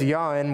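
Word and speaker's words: יין: Well, the Hebrew word here is the word yayin, which is my southern pronunciation of that Hebrew word, so give me a little bit of grace there, please.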